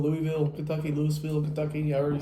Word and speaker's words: Louisville: Louis Lewisville. Louisville, Kentucky.